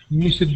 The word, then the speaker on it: missed: like this one miss you don't add an extra syllable here with the Ed so it would just be missed missed okay okay very